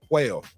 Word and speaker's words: Puello: How you say it, Puello? Help me out. Puello. Alberto Puello versus Rolly Romero.